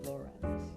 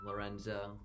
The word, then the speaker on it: Lorenz: very special guest, Lorenz. Is that how you say your last name? Yeah, it is. For a while I should know that. Some people mispronounce it, Lorenzo. Lorenzo. Quite common.